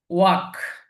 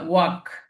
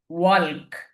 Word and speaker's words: walk: এল, এল আছে, WALK, ওয়াল্ক শব্দ যদি আহ, আমরা লেটার অনুযায়ী দেখতে চাই তাহলে কিন্তু ওয়াল্ক উচ্চারণটা হয়, কিন্তু এখানে উচ্চারণটা হবে ওয়াক। এল এর উচ্চারণটা আসবে না, কিন্তু লেখার ক্ষেত্রে আবার এল আসবে।